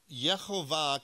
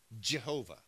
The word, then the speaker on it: Jehovah: right uh but English when it came to English speakers we pronounced a hard J Jehovah so Jehovah is English